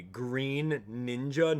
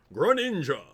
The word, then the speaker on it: Greninja: right here we go Greninja really green ninja no one pronounces it green ninja no one does really I mean even Smash Bros the the smash pronouncer goes gr ninja or something like that no one pronounces it